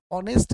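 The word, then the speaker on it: honest: I mean कि यहाँ पे ऑनेस्ट का उच्चारण औ से यानी वॉवेल की तरह हो रहा है, वॉवेल की तरह हो रहा है, इसलिए यहाँ पे हम एन का प्रयोग करेंगे।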